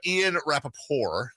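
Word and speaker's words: Ian Rapoport: Ian Rappaport is how it should be pronounced, by the way, because it seems kind of French.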